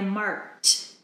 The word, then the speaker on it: marked: here it's edy but the pronunciation is T I marked marked the material yesterday